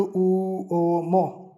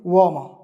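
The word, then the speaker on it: uomo: व की ध्वनि देगा जैसे वाम धीरे-धीरे पढ़ो उ ओ मो कैसी ध्वनि आएगी एक साथ इसको ऐसे बोलो वाम तो ये हो जाएगा वाम वम यानी पुरुष मैन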